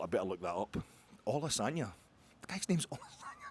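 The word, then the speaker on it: Olusanya: don't want to insult the guy's name, it's Olasanya, but just to the ear, it sounds phonetically, it's quite the coincidence.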